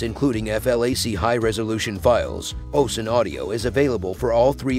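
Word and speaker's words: ocenaudio: best free audacity alternative is ocean audio Optimus pronounced as ocean audio it's simple enough for new users and loaded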